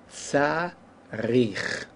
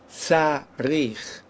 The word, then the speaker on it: צריך: But here, in this case, even though in tzarich, the accent wasn't on the first syllable, it was really here, tzarich, still, by our